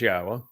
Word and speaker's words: Yahweh: Yes, it says Yahweh, which is the proper pronunciation of Yahweh's name, our Elohah, God, as directed by his Torah teaching regarding his Haya existence and our Shalom restoration. I share that insight because